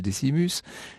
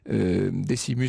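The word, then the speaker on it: Decimus: Vous savez en l'occurrence, il s'appelle Desimus, je prononce à la française.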